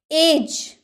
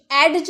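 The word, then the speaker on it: edge: एज, एज, एडज नहीं, एडज नहीं, एज किनारा।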